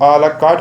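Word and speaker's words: à la carte: हमारा next word है आ ला कार्ट. इसको हम, आर साइलेंट होता है, इसको हम आ ला कार्ट पर प्रोनाउंस करते हैं.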